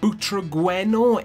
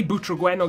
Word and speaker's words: Butragueño: is it I mean I want to say butragueno guys but using him in game I noticed the commentators were saying Brena so I don't know guys if I am mispronouncing it I do apologize but for the purposes of this video I'm going to be pronouncing it breno now before I get